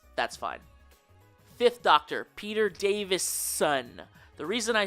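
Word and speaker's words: Davison: in the comments that's fine Fifth Doctor Peter Davis son the reason I say it like that is because at one point I made a video where I pronounced it David son with a d and I probably also spelled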